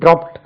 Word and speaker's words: dropped: அல்ல கீழே போடுவது he dropped the piece of chalk drop DROP drop dropped DROPPED இது it என்று உச்சரிக்கணும் இதுவுமே it dropped dropping DROPPING dropping drop dropped dropped dropping கீழே போடுவது.